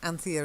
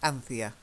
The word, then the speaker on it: Anthea: first one is Anthea Anthea is a name it's not actually a very common name anymore but that's how we pronounce it in the UK Anthea try it and Anthea